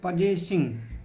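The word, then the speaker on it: possessing: एल ई इन फटसी और देखो यहां जो डबल एस है इसका उच्चारण ज होगा और यहां जो डबल एस एच का उच्चारण स होगा इसलिए इसको कहते हैं पजेसिंग क्या करते हैं पजेिंग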